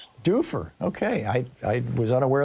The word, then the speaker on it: Dufur: f u r Do How do you say that, Ronnie? That's right. In order It's Dufer. Dufer.